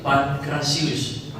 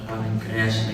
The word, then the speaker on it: Pancratius: Nama saya itu Pancratius. Jadi Pancratius, jadi ada yang Pancreas lagi yang lain. Jadi nama aslinya itu Pancratius.